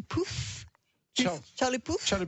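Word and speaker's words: Puth: pour nous aider à prononcer le nom de charlie p u th pas évident on prononce sa commande charlie poole car le push sur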